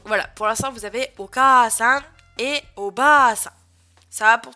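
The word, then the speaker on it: お母さん: Oka-san, et non pas Oka-san, hein. Oka-san, Oka-san, et Oba-san, et non Oba-san. Oba-san.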